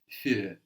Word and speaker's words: für: it's the U with the umlaut, but the idea with the umlaut is that it adds a quality of an E, no?